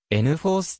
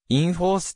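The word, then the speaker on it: nForce: ことであるなお日本では n 4th と発音されるが英語では in force と同じ発音である 2006 年に ati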